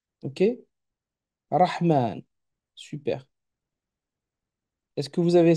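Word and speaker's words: الرحمن: J'entends bien rah, et non pas raha, rahou ou rahi. Ensuite, après rah vient le M avec le son A, rahma. Mais attention, on ne s'arrête pas là. Il y a un alon, un alif. Rahman.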